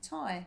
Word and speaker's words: Tadhg: Tadhg. Tadhg? Okay. Tadhg May. Tadhg. Tadhg. Just for the record, it's spelled t a d h g.